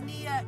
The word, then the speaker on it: Nia: hey my name is Nia it rhymes with Gia and if you like